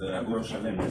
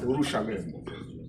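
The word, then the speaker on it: Urushalayim: What should the original pronunciations is Urushalem. Urushalem.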